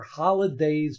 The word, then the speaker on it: Holidaze: And also talked about Will Golston with his appearance on the Happy Hour Holidays podcast. Now that's spelled HOLIDAZE podcast.